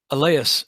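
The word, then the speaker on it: Allais: want to just google the eleas effect i think that's how you say it a l a-l-l-a-i-s which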